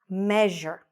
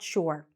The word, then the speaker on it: measure: What's problematic here is that this word is sure. Sure, right? We say, Can I come to your house? Sure. But here it's not sure. It becomes measure. Je. Almost like sort of okay, a very fast je. Okay, measure. Say it after me. Measure. It's not sure. It's measure.